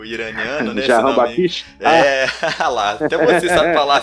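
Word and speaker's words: Jahanbakhsh: E qual que é a pronúncia correta mesmo? Jahan Bakish.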